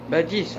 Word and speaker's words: Badis: Il y a un S à la fin, en fait. Badis, ah, Badis. Oui. Okay. C'est mieux comme là, ça. Je sais pas, parce que des fois les S ils se prononcent.